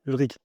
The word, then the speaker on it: Ulrich: Ulrich Ulric Ulric Ulric, ouais, ouais. Il y a différentes prononciations à mon prénom, mais Ulric, c'est la bonne prononciation. Ulrich, c'est la prononciation de ceux qui savent qui ne connaissent pas le prénom préalable. Et à l'allemande, c'est rich.